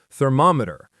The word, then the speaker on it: thermometer: The other word for the tool is thermometer. Thermometer. The stress is on the mom and the measurement is temperature.